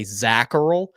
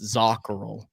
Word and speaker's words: Zacharel: And we say Zacharel, but if you want to go even further back, like to my grandparents' generation, how they pronounced it, it's Zacharel. So fun story there. Ooh. Technically correctly pronounced Zacharel, but Americanized, it's Zacharel.